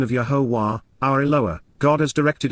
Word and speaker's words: Yahowah: Indeed, Yahowah, Yahowah, the proper pronunciation of Yahowah, our Eloah, God has directed in his Torah,